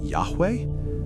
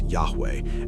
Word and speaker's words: Yahweh: Today, we do not know with certainty how Yahweh was pronounced. Yahweh? This is the most widely accepted academic reconstruction, but it remains a scholarly guess.